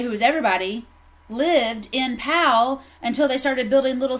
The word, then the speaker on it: Powell: right and that spelled powa ll but it's pronounced PL pal okay and it's not Powell but in PAL Tennessee we have one said